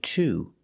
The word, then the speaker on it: to: he froze to death the pronunciation of to is T froze T froze to death we see with